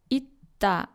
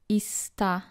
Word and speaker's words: 있다: For example, this word, 있다, not 있다.